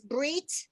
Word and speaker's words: brit: It's brit, right? So when a baby boy is 7 days old, he has a bris. Everybody calls it a bris because it's from when we pronounce that last letter as an S.